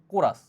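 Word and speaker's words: chorus: কোরাস বা অনেকে এটাকে চোরাসও বলে। কোরাস তোমার হচ্ছে এটা রাইট উচ্চারণটা। কোরাস মানে টিম বা ধরো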